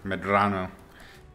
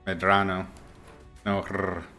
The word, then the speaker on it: Medrano: my last name no it's like the it's a short uh it's a short r medrano medrano it's not an ere it's an eddy so i'm just switching